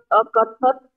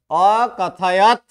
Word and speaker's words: अकथयत: अकथत आचार्य। अकथत नहीं, य का उच्चारण ही रह गया। अकथयत।